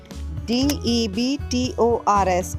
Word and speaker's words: debtors: DEBTORS is debtors, not debtors. B is silent over here.